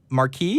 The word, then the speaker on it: Marquis: So while I get to that, let's go ahead and talk to, is it Marquis? Is that how you pronounce your name?